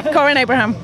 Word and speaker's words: Corinne Abraham: Is that how I pronounce it right? Yes, that is correct, yeah. Corinne Abraham.